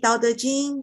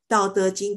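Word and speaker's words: 道德经: So first pronunciation is Dao, which is the fourth intonation. Dao, Dao. And De is going up. De, De. And Jing is flat. Jing is flat. Dao, De, De, Jing. Dao, De, Jing.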